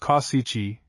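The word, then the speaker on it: Causici: Cooper, the celebrated author of the popular American novels, Mr. Kauisai, pronounced Kyichi, the sculptor, and Mr.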